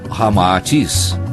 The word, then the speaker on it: Ramatis: Unindo-se Rama e Atis, Sita ao inverso, resulta Rama-Atis, como realmente se pronuncia em indo-chinês.